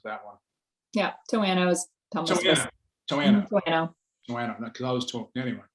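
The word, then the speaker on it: Toano: I'm glad you said Towano, because I was always wondering what the pronunciation was of that one. Yeah, Towano is Towano.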